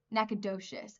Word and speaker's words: Nacogdoches: Nacogdoches.